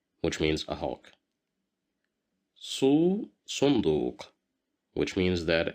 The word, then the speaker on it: صندوق: صندوق, صندوق, صندوق, which means a box. Here we have dhamma. That's why we pronounce it as su.